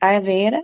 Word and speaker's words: Ayurveda: But I think I got to do a whole show on Ayurveda because I think, am I saying it right? Ayurveda? Yeah. Ayurveda. Ayurveda.